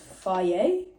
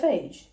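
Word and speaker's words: Fage: Apparently this is pronounced faye. Apparently it's not phage.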